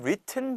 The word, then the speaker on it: written: 그다음 written by인데 발음 잘 들어 보세요. written by가 아니라 written by written by r by written by 이런 식으로 발음이 거의 되지 않아요. 리턴 되진 않습니다.